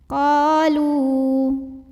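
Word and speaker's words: قالوا: Maka cara bacanya dipanjangkan qafnya dua harokat. Qalu.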